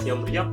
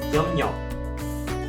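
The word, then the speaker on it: 협력: Secara tulisan hyomryok di Korea Utara dibaca juga hyomryok ataupun hyomnyok. Sedangkan di Korea Selatan jelas-jelas mereka membacanya hyomnyok.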